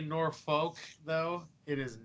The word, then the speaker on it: Norfolk: Lane grew up in Norfolk, Nebraska, great community northwest of Omaha. Can we settle a debate here? It's Norfolk. It's Norfolk. There is no R in the second syllable.